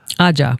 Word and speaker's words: Ajja: Ajja. Ajja. Ajja. It's a firm J sound. Yes. Ajja. 2 J's.